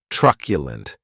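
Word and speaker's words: truculent: And this word has three syllables and the stress is on that first syllable.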